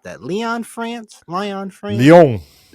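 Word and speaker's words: Lyon: PFL is heading to Lion, France. How do you pronunciate that? Leon, France.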